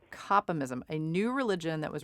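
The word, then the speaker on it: Kopimism: wrote on copy mysm is that how you pronounce it complem ISM yeah that's right coppa mysm a new religion that was recognized in Sweden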